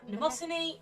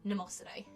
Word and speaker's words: Mnemosyne: It's one of those weird silent M things.